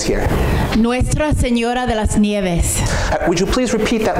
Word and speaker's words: Nieves: Nuestra Señora de las Nieves. Would you please repeat that last word, snows? Nieves. Nieves. Am I pronouncing that right?